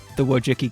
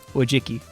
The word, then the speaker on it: Wojcicki: They can go in the Wojcicki cup.